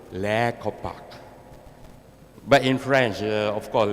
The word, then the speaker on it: Les Copaque: i pulled the last card we always said last copy so they mean the last chance you're hoping that you can read it but because we want to go international so i decided to spell it in french so when you go to kansas they always say la kopak but in french of